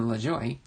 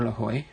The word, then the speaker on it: Lajoie: Pennsylvania so flick and Lajoie or Lavoie depending on how you say it were eligible to